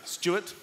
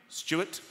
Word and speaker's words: Stuart: Like Stuart with a W is pronounced like this. Stuart. Without a W, Stuart.